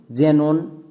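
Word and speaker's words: xenon: শব্দের একদম শুরুতে যদি এক্স থাকে চোখ বন্ধ করে এক্সের জন্য বর্গীয় জো করে দেব। যেমন জেনন, জেরক্স, আরও কয়েকটি ওয়ার্ড আছে, বাকিগুলো হোমওয়ার্কে করবা।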